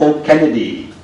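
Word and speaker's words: O'Cinneide: South Africa, Professor Colm O'Kennedy, that's an English pronunciation of his surname, Professor of Law, University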